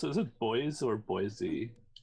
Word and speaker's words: Boise: I'm not sure how to pronounce it. Is it Boise or Boise? Boise.